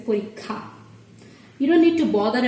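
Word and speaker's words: পরীক্ষা: That's why they pronounce it as pariksha instead of saying parikha. But in Bangla, when we combine it, the pronunciation gets different. We say parikha.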